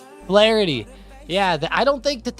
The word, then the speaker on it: Flaherty: Flaherty. Yeah, I don't think that that's going to be a very good night for the Dodgers tonight. Yeah. I'm not a fan. I think Flaherty's going to get smoked.